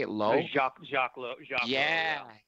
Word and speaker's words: Jacques Lowe: Jacques Lowe.